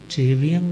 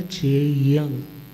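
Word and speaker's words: चेइयं: किसको कहते हैं ना, चेयं, क्या बोलते हैं तिकोतो के पाठ में, मंगलम देव्यं, चेवियंग नहीं है, चेवियंग इज इनकरेक्ट, वो गलत प्रोनाउंसिएशन है। सही क्या है, चेयंग।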